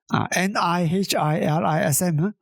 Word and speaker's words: nihilism: N I H I L I SM. uh that word the pronunciation is nihilism nihilism or something like that.